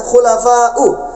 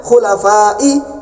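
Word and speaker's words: خلفاءِ: nah wa sunnatun khulafau dia baca khulafau seharusnya khulafa'i Kenapa khulafa'i karena dia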